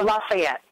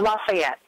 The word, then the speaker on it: Lafayette: So if someone comes up and asks you that question, how do you say it? I say Lafayette. Hold on now. Let's hear that one more time. And his name was Lafayette. I said Lafayette.